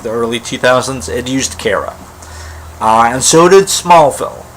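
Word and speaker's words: Kara: other but anyway uh they pronounced it Cara and those and sorry they pronounced Cara in those two films as well so the Supergirl TV series is a return to Cara and I'm happy Cara has always been my preferred pronunciation uh but yeah check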